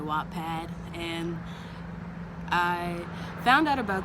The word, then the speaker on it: Wattpad: already writing on the app wattpad or whatpad however you pronounce i pronounce it wattpad and i found out